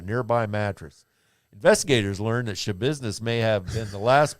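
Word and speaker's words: Schabusiness: Shabiznes. That's her name, Shabiznes.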